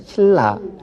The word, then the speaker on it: 신라: 신나로 발음을 쓰지만 발음할 때는 신라 니은을 리을로 교체한다라고 말씀드렸습니다.